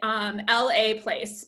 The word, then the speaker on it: Laplace: So that's the way you pronounce it. L-A place, but Laplace.